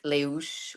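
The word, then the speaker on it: Les Houches: Leshouches. So anyone who Okay. speaks French, they're going to say it right, but it's Leuche or something like that.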